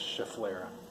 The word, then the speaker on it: schefflera: the regular schefflera schefflera that's another one that people just kind of guess how to pronounce but there's no extra vowels and vowels in it so it's schefflera all righty thanks for